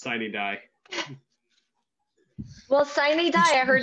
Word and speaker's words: sine die: It's sine die.